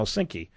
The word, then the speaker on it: Synqy: founder of Sinai Corporation is that how we pronounce it sinki oh sinky yeah you see I I I never got